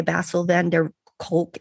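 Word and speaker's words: Bessel van der Kolk: You said that one of your favorite quotes is by Basil van der Kolk, MD.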